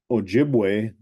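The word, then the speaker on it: Ojibwe: for chipa yeah um chipa was like a m mispronunciation of a jibway um and ojibway um we call ourselves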